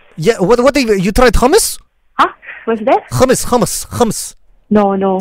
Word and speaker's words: hummus: Just say hummus. Homies. Okay. No. Hummus. Homies. No. Hummus. Okay, I don't know how to pronounce that word. Okay, actually. pretend like you're choking. Choking. Okay. Like hummus. Homies.